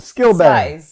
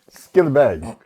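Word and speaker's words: Skillibeng: And Skill bang. Skill I bang. Skilla bang. Skilly bang. Oh, yes. Skilly bang.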